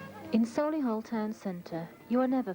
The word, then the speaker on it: Solihull: hillian's campaign refers to the local pronunciation of solihull as being celula this is the